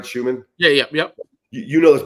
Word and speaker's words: Schuman: And once again, Coach Schuman, did I pronounce that right, Schuman?